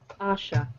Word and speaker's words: Asha: okay so your name how is it pronounced Asha like ah okay I'm just putting